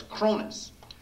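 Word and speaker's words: Kronos: The Cronus Complex, K-R-O-N-O-S, or however you might want to spell it, but it's Cronus, which means that the concept is that the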